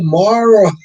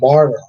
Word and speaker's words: Morrow: Bowen is pronounced Bow. Oh, Morrow. Josh Morrow. Oh, okay. Thank you, Jonathan. Morrow.